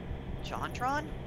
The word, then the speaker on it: JonTron: It rhymes with Mom Tom. JonTron?